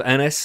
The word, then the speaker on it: Ennis: It was when Elsa locks lips with, is it Inez or Ennis? How have we officially decided how to pronounce his name? We're going with Ennis because okay. tennis is spelled similarly, okay.